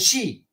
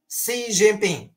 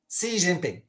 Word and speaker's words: Xi Jinping: the name of the Chinese president I was pronouncing it wrong I used to say president XI now it's wrong I was told through the